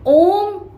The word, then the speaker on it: ओम: ओम का उच्चारण है ना ओम को बोलकर देखो ओम ओम तो इतनी लंबी आवाज आती है और इसको बोलने में क्या है? अ, उ और म तीन अक्षरों का उच्चारण करना पड़ा। अ का मतलब उत्पन्न होना।